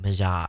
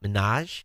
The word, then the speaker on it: Minaj: so Bravo to Nicki mazaa and I pronounce her name wrong Millennials help me out Minaj ha ha man eh